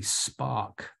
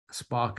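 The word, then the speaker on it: Spaak: time there was a man called Paul Henry Spock spark is spelled s p a a k he was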